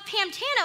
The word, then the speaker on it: Pantano: talk about it much because you can't really hear the difference so no one really brings up the weird spelling of pam even though we spell it p-a-n and frank is buying it he's buying this that that it's called pamtano and he's wondering this